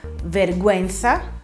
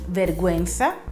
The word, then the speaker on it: vergüenza: Se la U ha la dieresi, si legge come in italiano. Meraviglioso, no? Però purtroppo, come vi ho già detto, non sempre succede, anzi quasi mai. Le parole per esempio sono vergüenza, che vuol dire vergogna, bilingue,